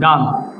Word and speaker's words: girl: আবার আমরা অনেক সময় বলি গাল, GIRL, গাল। এই যে আরটা, আর এবারে এল আছে, পিওর কনসোনেন্ট, শুধু আর উচ্চারণ হবে না, হবে গাল।